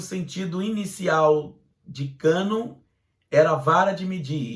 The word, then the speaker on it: cânon: A formação do cânon do Velho Testamento obedeceu certas medidas e padrões diferentes das usadas para o cânon do Antigo Testamento.